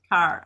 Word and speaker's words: Carr: Carr, or is it Care? I've seen it Car. pronounced Carr. All right.